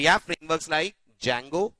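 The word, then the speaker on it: Django: we have frameworks like जंगो D silent रहता है ध्यान दीजिएगा पिरामिड एंड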